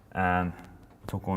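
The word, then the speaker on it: 男: Otoko no hito, otoko no hito.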